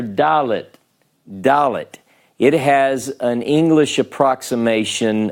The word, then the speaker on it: Dalet: Dalet.